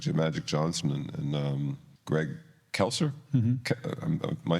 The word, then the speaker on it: Greg Kelser: that had magic to Magic Johnson and um Greg kelser am I saying that right yeah you're saying